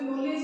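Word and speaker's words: knowledge: अंग्रेजी की भांति नहीं है कि अंग्रेजी में हम नॉलेज लिखते हैं तो जो नॉलेज है वो क से शुरू होता है, लेकिन हम उसका उच्चारण न से करते हैं।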